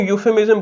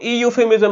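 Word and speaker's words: euphemism: अब बात करते हैं इसके स्पेलिंग्स की। तो मैं बोल रहा हूँ यूफेमिज्म बोल रहा हूँ, ई यूफेमिज्म नहीं बोल रहा, ये बात आपको समझनी थी।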